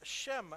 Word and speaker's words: Chaim: and he corrected me and he said it's Shem. We've been saying Shem. It's actually Shem. And I was actually correct in the Jewish pronunciation of the name would be Chaim. But so we'll go with Shem for now.